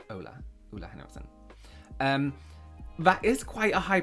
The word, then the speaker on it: Ole Henriksen: I always want to say Ole Henriksen, but I did a job of them, and it's pronounced Oola. Ola. Ola Henriksen.